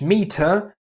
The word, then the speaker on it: Meter: ER in British is but in German it's always pronounced a somewhat dull a. For example, the British English meter would be Meter in German.